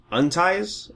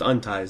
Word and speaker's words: UNTIES: new indie label called unties I think that's how you're supposed to pronounce it it's not unities it's just unties that's what that's not